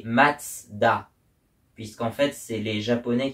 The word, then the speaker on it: Mazda: Donc c'est censé se prononcer comme en allemand et donc c'est censé se prononcer Matsda.